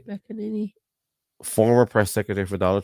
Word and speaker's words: McEnany: But Kayleigh McEnany, that's how you say her name. McEnany.